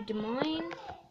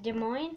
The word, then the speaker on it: Des Moines: after that um uh we started driving to Des Moines and I figured it out when we were going that Des Moines is spelled Des Moines and it's really weird it's spelled d-e-s-m-o space